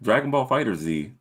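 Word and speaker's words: Dragon Ball FighterZ: You're finally saying it right. Dragon Ball Fighter Z. Oh yeah, because it's supposed to be fighters.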